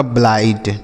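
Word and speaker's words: blight: आई जी एस टी तो बी एल आई को क्या पढ़ेंगे बी से आधा ब एल आई से लई ब्लाई और जी एस टी को ट लिखा आपका ब्लाइड ठीक है मेरे भाई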